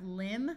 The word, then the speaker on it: limb: here we have crumble here we have limb with a silent B but we add the